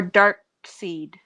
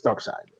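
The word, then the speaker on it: Darkseid: answer i wouldn't deal with that thanos or dark seed dark side oh it's spelled wrong i don't know who that is it's dark side that's how that's how they pronounce this dark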